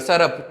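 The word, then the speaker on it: Tsarap: उसके बाद आ जाता है सरप रिवर, सरप, टी साइलेंट है इसमें, सरप है इसका नाम, ठीक है, सरप रिवर।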